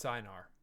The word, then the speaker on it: Sinar: Oh, it's Sinar. That's how they say it.